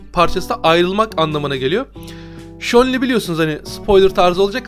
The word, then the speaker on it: Zhongli: Eğer ki Çince okuyorsanız oradaki ZH'yi Ç diye biraz böyle Ç ile Ş arası bir harf okuyorsunuz ama hani Çince ya da Japonca'ya çok hakim olmadığım için size dil bilgisini öğretecek değilim ama hani Zhongli değil. Z ile okumuyorsunuz. Ben Shonli dediğimde abi o Ş değil Z falan diye söyleyenler var. Yani o Z değil ondan emin olun.